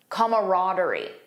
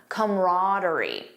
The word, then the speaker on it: camaraderie: Notice the first pronunciation has an extra sound comma camaraderie. The second one just says come camaraderie. Most American speakers in my experience say camaraderie. That's the one that I personally use.